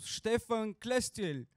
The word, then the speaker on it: Stefan Klestil: stage venture fund based in vienna welcome to stefan clestill very well pronounced thank you very much so um it's